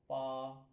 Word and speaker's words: 八: आज का हमारा करेक्टर है पा। पा, इसकी आवाज़ प्रोनाउंसिएशन पा।